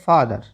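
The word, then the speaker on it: father: जब भी किसी शब्द के अंत में आता है जैसे एफ ई टी एच ई आर आप पढ़ते हैं फादर आप पूरा पढ़ लेते हैं क्योंकि हमें पता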